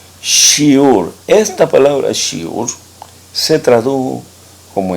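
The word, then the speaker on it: שיעור: una a se escribe con una B y se escribe como una re shiur shiur esta palabra se tradujo como enseñanza y vamos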